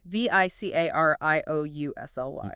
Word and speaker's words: vicarious: V I c a r i o u s l y. Vicariously. Another five syllable word. Stress on the second syllable.